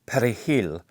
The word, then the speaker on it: perejil: The word perejil contains a rolled r, a sound that does not exist in the same way in Haitian Creole.